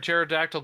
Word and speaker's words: pterodactyl: can't you hear a pterodactyl go to the bathroom why because the PE is silent I like that so